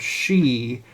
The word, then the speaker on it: Sidhe: woman, because the word she, spelled Sidhe, Celtic Irish language is a very interesting language because nothing ever looks the way it's pronounced.